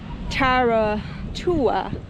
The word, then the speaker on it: Whiritoa: It's called Whiritoa, which I did pronounce it right.